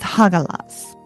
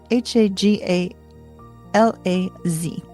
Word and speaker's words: Hagalaz: So, we start with Hagalaz. H A G A L A Z Hagalaz.